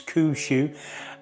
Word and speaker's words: Kuxui: there was the kushu I finally learned how to say the Brand's name it's kushu uh you saw me